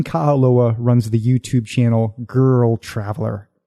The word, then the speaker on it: GrrrlTraveler: we should do is clear up the name of your channel girl traveler you did it right thank you it is